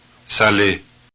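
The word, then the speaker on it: saler: row C Saleh that's s-a-l-e-r then s-a-l-e with an accent mark over it they all sound the same s-a-l-e-z-s-a-l-a-i-s they all sound the same Sally Sally Sally Philly that's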